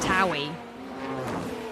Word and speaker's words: AlphaTauri: But it's Tauri. It's sorry.